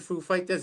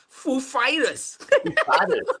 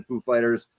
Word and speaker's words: Foo Fighters: do you pronounce the Foo Fighters? And he went, I made sure he said Foo, then Fighters. Go, Foo Fighters. Exactly. Yeah, he put the emphasis on the wrong part, but that's all right, though.